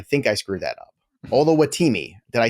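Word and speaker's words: Oluwatimi: Kevin selected Olusegun Olatoamini. I think I screwed that up. Olawatimi.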